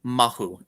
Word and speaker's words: mahu: know can you say the word I always mispronounce it the term is mahu m-a-h-u mahu right right and there is a